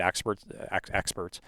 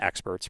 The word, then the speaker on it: excerpts: read or you've seen excerpts of it. I can't. I wonder how many times people have mispronounced excerpts and said experts. Probably a lot.